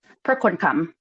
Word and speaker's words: Prakonekham: So is it pronounced Prakonekham? Prakonekham.